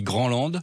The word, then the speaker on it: Grandland: Grandland, il n'y a pas de D, c'est de l'allemand. Donc on dit Grandland.